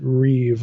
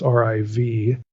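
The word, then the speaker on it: ריב: reeve that's rib but you'd pronounce it reeve like it's riv the reeve pattern reeve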